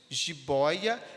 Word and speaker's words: jiboia: tonicidade da mesma forma a palavra Jibóia é a sílaba Boy essa sílaba boi que tem mais tonicidade jiboia jiboia nós temos